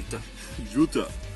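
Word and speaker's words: Jutte: J-U-T-T-E. Jute Shelley. Jutta. Jutta. She is a Frankenstein.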